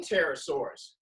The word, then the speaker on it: Pterosaurs: Let's start with the name Pterosaurs. I'm saying T, the Pterosaurs, right? But if you see the word, it starts with a P. The P is silent.